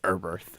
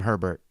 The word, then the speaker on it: Eberth: Everyone else calls him Eberth. It's Eberth. 2 people called him Herbert.